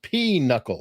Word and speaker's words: pinochle: It's pronounced P-knuckle. Say it right, you northern heathen. P-knuckle. What did I say? I don't know. No, we the said game. pinochle. We said pinochle, like knuckle up.